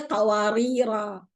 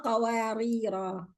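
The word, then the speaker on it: قوارير: When I stop, I say qawarira. When I continue, qawarira, qawarira.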